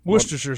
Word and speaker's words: Worcestershire: Silent letters. What do they mean? Worcestershire sauce. They don't mean nothing. They're silent.